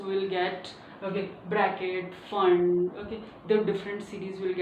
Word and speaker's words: Pfund: kind of said before it's a fun series someone says it's a full series but this one is fun series P is silent okay and this one